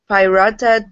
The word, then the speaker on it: pirouetted: This next one is a French word, and I'm going to do my best with it. It is pirouetted.